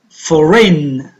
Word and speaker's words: foreign: Foreign, foreign. Which letter didn't you hear? Good. G, for rain. So G is a silent letter.